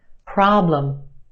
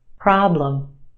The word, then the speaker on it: problem: is emphasized the ah problem is stretched and emphasized in the first syllable our second syllable is where you have your schwa problem problem what's the problem try